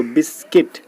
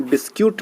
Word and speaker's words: biscuit: होता है, तो देखो बिस्किट। ठीक है, लेकिन बिस्क्यूट नहीं होता है, बिस्किट होता है। तो लेकिन स्पेलिंग लिखते हैं हम लोग BISCUIT।